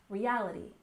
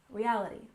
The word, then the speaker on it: reality: in Virtual ual virtual and stress on the second syllable in reality reality so often times you